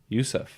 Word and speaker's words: Ouseph: Ouseph. O is silent. The O is silent.